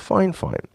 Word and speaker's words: Fifine: Yes, it's pronounced Fifine.